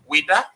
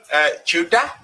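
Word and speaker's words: Ouidah: You know, so when they wanted to pronounce Weda, right, French people say Weda, and Portuguese say Chuda. Other people say Waida. Right.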